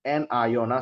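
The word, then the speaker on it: anion: have cat ion and N ion so this one pronounced as cat ion some people they read at Kon not Kon cat ion this one pronounce as n ion all right but if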